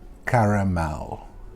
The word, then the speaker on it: caramel: toes and that is caramel caramel a lot of people say caramel caramel there is an a you cannot forget the a the a is there in the middle it's called caramel if